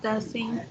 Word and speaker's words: doesn't: La pronunciación siempre va a ser como una E aquí entre la S y la N.